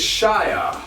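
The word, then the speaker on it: -shire: that we mentioned earlier is shire which is more like shi that's the romanian way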